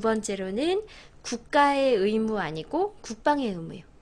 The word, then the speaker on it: 국방의 의무: 아 그래요 그 중 소유격 조사 의는 애로 발음을 하시는 거예요 아 그렇구나 응 국방의 의무 엄마의 가방 나의 사과 아 그래요 그렇다고 해서 앞에 오는 의를 애로 발음하시면 안 되죠 의사예요 애사 아니고요 아 그런데 뭐뭐의 할 때 이렇게 소유격 할 때는 에로 발음하는 거예요 국방의 의무가 아니라 국방의 의무음 그러면 부드럽게 이야기가 되죠 그 몰랐다 진짜로 그죠음 그래서 하실 때 국방의 의무라고 하시면 되고요 그다음 신경 써 주실